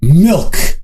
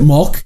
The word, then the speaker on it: Milk: So today I'm going to be reviewing Jocko's Milk, or Milk. It is not pronounced Molk. Even if Jocko calls it Molk, that's not what it is.